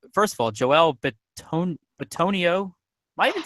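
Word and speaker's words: Bitonio: K or Joel first of all Joel Bon bonio am I even saying his name right yeah bonio yes my name pronunciation game is just it's awful so I'm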